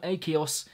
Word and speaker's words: Akeos: the new EP from a Kaos yes that is how you say it insomnia this is the